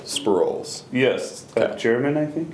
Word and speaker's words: Sproles: Zack how do you say your last name Scrolls spur roll sprawls yes that German I think it's a good